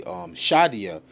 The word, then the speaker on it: Shaddai: But on the hood of this vehicle, you see Yahweh El Shaddai. Now, I went into the Hebrew, and the word Shaddai, which would be Shadia, properly pronounced, is Almighty. All right?